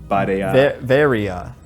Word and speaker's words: Varia: deep on it uh it's just a mistranslation of barrier suit in Japanese oh my God so I guess it should be pronounced bar varia so yeah I guess